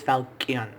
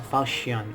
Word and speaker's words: Falchion: No, it's Falcon. I know there's a CH, but the H is silent. It's Falcon. Jesus. Falcon. A Falchion.